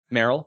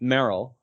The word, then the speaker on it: Meryl: say marls marley's marvel's i think it's marl that's how it's pronounced um maryland english dub merrell yeah that's what it is i always pronounce the a wrong um merrell uh which we haven't